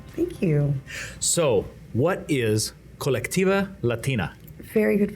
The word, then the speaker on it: Colectiva Latina: So, what is Colectiva Latina? Very good pronunciation, by the way.